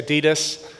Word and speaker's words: Adidas: You got the Apple Store, the Adidas store, or that Pablo keeps reminding me, Americans say Adidas, the Adidas concept store.